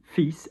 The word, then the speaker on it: fils: And then son, fils, F-I-L-S. We shouldn't pronounce the S, but we do.